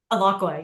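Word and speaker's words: Alaqua: of multiple ways um played by is it alqua Cox is that how I pronounce the name alaka yeah alaka okay and she she also she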